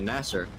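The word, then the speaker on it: Nasr: Filipe Masa and Filipe Nasser, but the way the British commentators would pronounce that is Masser and Nasser.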